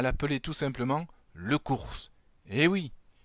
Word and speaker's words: Cours: Mais tous les cabanets continueront à l'appeler tout simplement le Cours. Eh oui, il faut bien prononcer le S final, sinon ça fait un peu court.